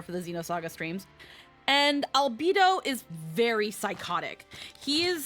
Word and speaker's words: Albedo: It's pronounced albedo or albedo. Xenosaga pronounces it albedo. So I'm just gonna say it the way they pronounce it.